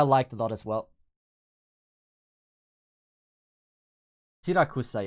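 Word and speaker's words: Siracusa: Sirakusa, yeah, that's how you pronounce it.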